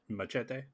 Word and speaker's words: Muschietti: and Joby Harold, Although I think starring it's pronounced machete.